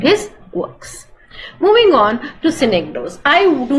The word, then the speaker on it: synecdoche: The difference is that when you're doing synecdoche, please pronounce with me, synecdoche.